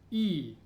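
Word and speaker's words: И: So the first one is pronounced E. E. E as in me.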